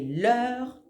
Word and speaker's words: leurs: chose au singulier et l'heur pour quelque chose au pluriel la prononciation est exactement la même attention à ne pas oublier le S à l'écrit pour le pluriel je te donne un